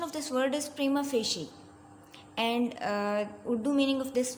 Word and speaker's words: prima facie: It all started with a wild, crazy, strange-looking, strictly speaking, prima facie. The pronunciation of this word is prima facie, and Urdu meaning of this word is बज़ाहिर.